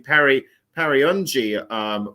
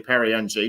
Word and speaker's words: Perry Ng: It's actually Perry, and I've actually been pronouncing Perry Ungi wrong, and it's actually Ng a bit wrong. So it's actually Perry Ng, not Perrying.